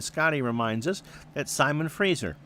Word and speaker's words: Fraser: And Scotty reminds us that Simon Fraser, it is pronounced Fraser, not Frasier, uh is a NCAA Division 2 program in Canada.